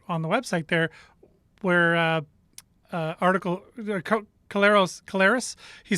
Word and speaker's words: Collaros: Well, it's basically been Collaros, basically. Collaros. Okay. See, and I'm a guy that I like to pronounce it properly, and I'll admit when I'm not sure, so that I eventually learn.